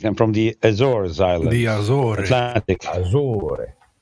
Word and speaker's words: Açores: In Portuguese is Açores, but you guys. Yeah, in English is Azores. With a Z. Yeah, in English is with a Z.